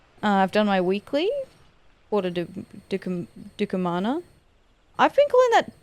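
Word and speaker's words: Porta Decumana: Uh I've done my weekly Porter Dukamana. I've been calling that Porto Dominica. Where the did I get that pronunciation from?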